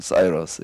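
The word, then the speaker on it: Cyrus: 바빌로니아가 멸망을 멸망시킨 사람이 그 고레스 어 뭐 이제 영어식 발음으로 하면 사이러스 이렇게 얘기를 하는데이 사람이에 바벨론을 멸망시키는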